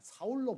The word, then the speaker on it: 사울: 발음을 할 때 히브리식으로 발음을 하면 사울입니다. 그런데 로마식으로 발음을 하면 바울이 되는 것입니다. 그래서 사실은 다른 이름이 아닌데, 그런데 중요한 것은요, 예수님을 만나기 전에는 그가 사울로 불렸다는 거예요.